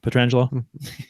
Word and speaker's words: Pietrangelo: to the Pietrangelo hit on knows how I pronounce his name correctly Pietrangelo that's right we should you know we're gonna